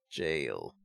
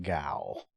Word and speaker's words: gaol: Jail. Sammy was saying that you pronounce this jail. But I'm still gonna pronounce it Gaol.